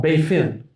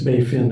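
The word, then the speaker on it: Baie Fine: It's called Bay Fin. It's French. But anyway, spelled funny, but it's Bay Fin is how you pronounce it.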